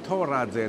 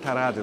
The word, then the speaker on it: Toradze: Georgia and this is how you supposed to pronounce his name thorazi not karate like they do here so he was performing